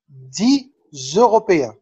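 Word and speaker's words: des Européens: احنا قلناها المرة اللي فاتت دي لما اتكلمنا على الأرقام ولا ليزون الوصل، يبقى نقول دي زوروبيان.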